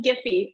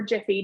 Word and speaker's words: Giphy: So celebrate the successes, acknowledge their progress, send them a chat message, a fun Giphy or Jiffy, depending on how you say it, right?